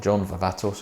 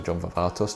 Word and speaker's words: John Varvatos: autumn and that is john varvatos or john varvatos depending on how you want to pronounce it but it is